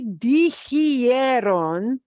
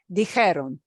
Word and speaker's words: dijeron: And then this really oddball thing, it won't be dijeron, because that's just too hard to pronounce. It'll be dijeron. It's even going to drop the IERON and just go to ERON.